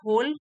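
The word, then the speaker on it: whole: पूरे दिन के लिए होल डब्लू एच ओ एल ई डब्लू यहां पर साइलेंट है होल मींस पूरे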